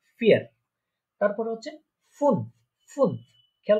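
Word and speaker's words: vier: ঠিক আছে, অনেকে বলতে পারেন যে এটা তো ভি, কিন্তু এটা ভি না, আমরা দেখেছিলাম যে জার্মানরা এটাকে ফাও বলে থাকে।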